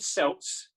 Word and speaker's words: Celt: or Anna Jaya now the cord cells with a soft C because they were often buried with the celts that we found lot